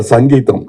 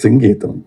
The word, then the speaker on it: Singeetam: In Tamil Nadu, he used to get very upset because say, Mr. Sangeetam. No, it is Singeetam, please.